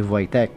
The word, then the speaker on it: Wojtek: Ang bida sa istorya natin ngayon ay si Voytek, isang oso. Sadyang pambihira ang istorya ni Voytek. At yan ang aalamin natin ngayon. W-O-J-T-E-K ang spelling ng pangalan ni Wojtek. Pero base sa ating research, Wojtek ang pronunciation.